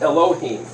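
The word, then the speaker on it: אלהים: get a L H I am but it's pronounced Elohim so if you have a dot up here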